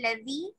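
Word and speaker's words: الذي: Woman haza al fatal ladhi maaka. Woman hazal woman hazal fata fatal di maaka. No, fatal ladhi. Fatal ladhi maaka. Woman hazal fatal ladhi maaka. Fatal zi. Fatal ladhi. Fatal ladhi. Pronounce the la.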